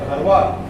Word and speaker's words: Dharwad: Please I will pronounce Dharwad as Dharwad, which is my constituency also.